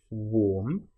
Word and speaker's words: warm: Now, warm and charm, you'll notice both have the same a r m in them, but one is pronounced warm. So, it's the or sound, the o r sound, and the next is a, the a r sound, r.